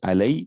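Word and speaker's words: على: Sometimes this is pronounced with the alay, with the ya, with the sukun, when it's connected with a pronoun. Otherwise, it's typically pronounced as ala.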